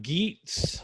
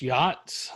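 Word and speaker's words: Geats: um and this word it looks like geets but it's pronounced yachts like uh you know the stuff your rich uncle had the boat your rich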